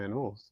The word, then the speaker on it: anole: but I loved my anoles, the anoles that we had. I grew up calling them anoles. Anole is a more accurate way to pronounce it.